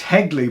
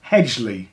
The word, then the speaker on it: Hegley: It's Hegley, but I said it was Hedgley.